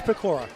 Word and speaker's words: Pecora: Is it Pecora? Excuse me, I mispronounced it. It is Pecora. My bad. Like Decora.